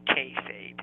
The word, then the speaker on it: kayfabe: So, for example, when we talked about cutting, that would be in the rather esoteric realms of kayfabe. Kayfabe. I think it's pronounced kayfabe.